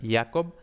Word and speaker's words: Jacob: Entonces, esto ya lo vio Rask en 1818, pero fue Jacob Grimm, o Jacob, porque era alemán, entonces se debe pronunciar Jacob, en 1822, que formuló